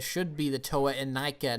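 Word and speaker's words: Inika: the toe and i i still say to nika because that's the way the commercial said it it's like new but bionicle presents toe and nike eat set sold separately but then the official pronunciation is anika and then it gets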